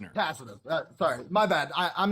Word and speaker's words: Tacitus: So, while Gabriel is tacticus of the Roman Empire. Okay, so it's pronounced Tacitus. Tacitus says he was held as a prisoner. Tacitus.